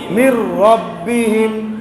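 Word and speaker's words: مِن رَّبِّهِمْ: না কিন্তু লিখতে হবে এখানেও এরকম মির নুন সাকিন থাকবে কিন্তু উচ্চারণ হবে না মিম রজের মির র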